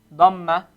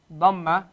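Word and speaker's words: ضمة: Dhamma. Dhamma, right? But don't pronounce the D as a D. Pronounce it as a dod.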